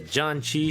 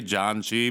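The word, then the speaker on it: 잔치: does I don't even Janchi think I mean? pronounce it right. I say Janchi, but I think it's like Janchi, like more like that.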